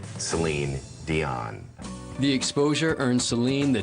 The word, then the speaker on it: Céline Dion: the Beast came out they knew it wasn't it's aligned or salon at that point they got Celine Dion the exposure earned Celine